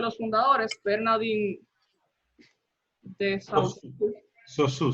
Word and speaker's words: Saussure: Saussure se pronuncia. Saussure. Tú puedes decir Saussure, como se escribe, no hay problema de eso.